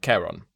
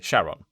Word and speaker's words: Charon: And the classic one is Charon, which I pronounced earlier erroneously Sharon, because I forgot my Greek.